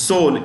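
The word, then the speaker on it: Seoul: Tokyo South Korea is soul s e o u l the E is silent in Soul okay India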